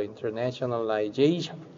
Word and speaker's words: internationalization: 근데 이제 두 군데에서도 첫 번째 강세와 이제 두 번째 강세가 좀 있어서 internationalization. 그래서 뭐 네이션의 NA보다는 저기 뒤쪽이 더 세고 근데 앞에서도 살짝의 그 약간의 그 강세가 조금은 그거보다는 약하게 들어가는 식으로 이제 발음이 되죠.